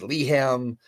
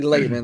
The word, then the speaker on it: Lehmann: They think it's Leham, Lehmann. I've heard all different takes on it. Lehman is one of the biggest ones. It's actually Lehmann, like LAYMAN.